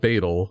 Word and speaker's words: Beetle: Now, just to be clear, this is Beetle, not Beetle. And that's spelt with two E's, not an A.